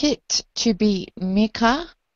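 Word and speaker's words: Mikkah: I would like it to be Mika. I would like it spelled M-I-K-K-A-H, but pronounced Mika.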